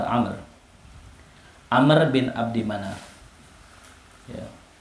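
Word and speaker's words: عمرو: Amr ya, bukan Omar, Amr.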